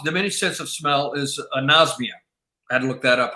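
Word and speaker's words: anosmia: one more time no it starts with the end nos mia a-n-o-s-m-i-a can you say the a on the front anasmia yeah based on i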